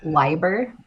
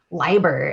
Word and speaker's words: Leiber: So I originally thought Leiber, because that's the German pronunciation. My maiden name is German, and we pronounce the second vowel instead of the first. And so yeah, I was like, oh, it's definitely Leiber. And then I bought her